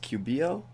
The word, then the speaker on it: Cubillo: Cubillo it looks like a Hispanic name, so that the double L's come off as a yo instead of a low, right? Like English is low. Okay, so in Cubillo.